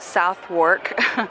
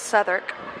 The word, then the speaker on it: Southwark: It looks like it's pronounced Southwark, but it's Southwark.